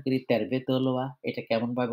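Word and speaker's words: tervetuloa: সেটা হলো যে ফিনিশ ভাষার উচ্চারণের ক্ষেত্রে প্রত্যেকটা শব্দের যে ১ম অংশ আমরা যেটা কি বলি শব্দাংশ বলি কিংবা ইংলিশে বলি সিলেবল, হ্যাঁ? ফার্স্ট সিলেবলে বেশি করে চাপ দিতে হয়।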